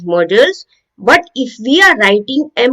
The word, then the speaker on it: Modals: Now, models, there are two spellings, two different pronunciation also of this word. Modles. No, as it is written, Modals. This is pronounced as models.